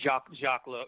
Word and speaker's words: Jacques Lowe: Jacques Lowe.